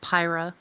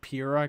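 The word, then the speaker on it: Pyrrha: down on the floor Robbie thinks that it's pronounced pyra oh pyra I pronounced PIRA God damn it because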